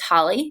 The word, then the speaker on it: Holle: know that that doesn't it looks kind of like it's whole but it is holly that's how you pronounce